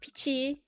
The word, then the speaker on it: Piqi: But yeah, so it's Piqi. Like I don't know, like Chi Pao.